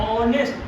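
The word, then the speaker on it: honest: Adjective यहाँ पे क्या है, ऑनेस्ट, ऑनेस्ट का प्रोनाउंसिएशन करिए, बोलिए क्या आएगा, ऑनेस्ट।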